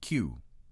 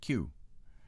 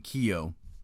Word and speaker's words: Keogh: It should really be pronounced Q. Keogh is pronounced Q. And I keep saying Keogh, but there you go.